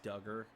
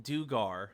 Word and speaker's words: Dugar: Imagine if it's Duggar, and I've just been saying it wrong this entire time.